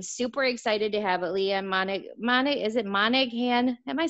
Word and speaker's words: Monaghan: I am super excited to have Leeann Monaghan? Am I saying it right, Leeann? Monaghan, the G is Monaghan.